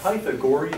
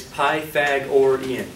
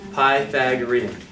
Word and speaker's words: Pythagorean: It's the Pythagorean theorem? No. You don't want to emphasize the wrong syllable, okay? It's Pythagorean. Say it, Pythag. Great word. Or Ian, like the name Ian. Pythagorean.